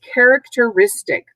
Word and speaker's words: characteristic: that's along the characteristic that's five syllables and you can see that risk the fourth syllable is the accented syllable it's the syllable that gets the emphasis characteristic is a noun